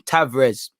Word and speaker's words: Tavares: white le conga um tavrez tavern sorry you know people are saying the r is silent um it seemed it